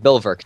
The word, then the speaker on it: Bulwark: and it's still called Fortress bulwark uh Bill work Bill work technically because it's a it's a German pronunciation um and if you